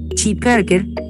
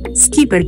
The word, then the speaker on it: Schipperke: de esta raza aunque la pronunciación correcta del nombre de la raza es si parker es más común escuchar lo pronunciado skipper que especialmente en los